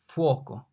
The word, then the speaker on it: fuoco: The F here is pronounced like F in father, father, F, fuoco, father, fuoco. Sounds exactly the same.